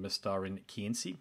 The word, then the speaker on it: Mestarin kynsi: So look, it's a fairly long opening statement there, but I really want to offer you a heartfelt congratulations on Mestarin kynsi. Did I pronounce that correctly?